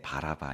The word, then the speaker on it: 바라바: 그 사람의 이름이 뭐예요네 바라바 있니다네 발음을 잘하셔야 돼요 성경에 비슷한 이름들이 많아서네 바나바 바라바 바나나 막 이름이 막 헷갈립니다 예 오늘 본문 16절에